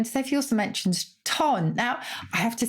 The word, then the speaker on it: ton: And I think you should pronounce it with a French lilt. Because it's like chic. It has a certain ton about it. It's ton rather than ton, I think.